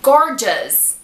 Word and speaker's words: gorgeous: Mas não, O-U-S tem som de us. Us. Por exemplo, gorgeous. Gorgeous.